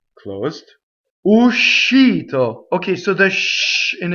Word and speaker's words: uscito: And what I mean by that is that when you sing, you have to stop a little bit the u. Uscito. And the sh has to be completely on the next note, in the next syllable.